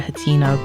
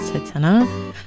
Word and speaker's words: Hatena: I call it Hatina, but I think it's pronounced Hatena. So when I talk about it with other people, I say Hatena, but inside my heart, it's Hatina. But I'm pretty sure it's Hatena.